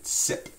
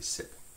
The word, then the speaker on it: cyprès: And so it's sip, and we don't pronounce the R-E, sip.